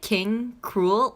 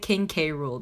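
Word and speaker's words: King K. Rool: Is it King Cruel or is it King K. Rule? Because I've been saying King K. Rule this whole time. I'm pretty sure it's spelled K. Rule because you say cruel.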